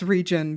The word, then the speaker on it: Regen: for rain re but I just pronounce it as regen because otherwise no one is going to know how to pronounce it I like I like